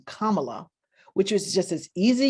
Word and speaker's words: Kamala: who went out of their way not to pronounce her name kamala which was just as easy you can look